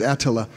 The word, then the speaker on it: Attila: Actually, the correct pronunciation is Attila.